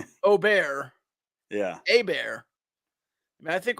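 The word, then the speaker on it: Åberg: different pronunciations with because he said it's an o sound because in Swedish it has an o above the A and that's what gives you the the sounding that was the Don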